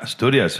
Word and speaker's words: Asturias: You're from Asturias. Am I pronouncing it right? Yeah, Asturias.